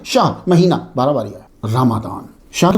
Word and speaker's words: رمضان: समझ आ गई आपको रमादान हम नॉर्मली रमजान बोल देते हैं वो चलता है उर्फ़ में जो है लेकिन आप लोग जो है वो जरा भी ये भी ज़हन में रखा रखें असल प्रोनाउंसिएशन क्या है? रमादान कमरी साल के नवे